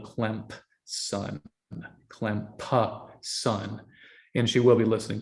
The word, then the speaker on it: Clemson: And that being the case, and they unfortunately both went to Clemson, and that's pronounced with a P in the middle, Clemson.